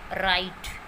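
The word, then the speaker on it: write: डब्ल्यू, जब भी कोई वर्ड डब्ल्यू आर से शुरू हो, जब भी कोई भी वर्ड डब्ल्यू आर से शुरू होता है, डब्ल्यू वहाँ पर साइलेंट रहता है, मतलब डब्ल्यू आर के साथ साइलेंट रहता है, बट वो वर्ड डब्ल्यू आर से शुरू होना चाहिए।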